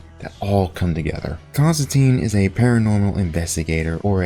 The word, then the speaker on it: Constantine: well well well aware of his name being pronounced Constantine not Constantine which was something that the movie in 2005